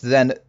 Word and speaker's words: Ye: it is still pronounced then the old pawnshop right because the y is not a y it's a th for thorn right you probably know